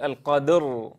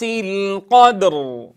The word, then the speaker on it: القدر: نتنبه لا نقول القدر، لا نكسر الدال بل نبقيها ساكنة، فإذا ما انتهينا من قلقلتها نطقنا بالراء، والراء كما تعلمون له زمن البينية، فبعد أن ننتهي من القلقلة كاملة نبدأ بنطق حرف الراء.